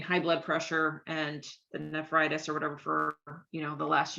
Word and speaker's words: nephritis: I think it's nephritis is how you say it. Mm. Um, So that's an F, NEF. I think it's Oh, NEPH.